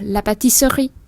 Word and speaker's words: pâtisserie: Và mình đọc sơ khi được rồi thì sri thì mình vẫn nghe được âm sờ và âm r.